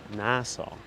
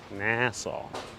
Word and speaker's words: Nassau: New Yorkers pronounce NASA NASA with a long a. Nassau. Nassau. Nassau.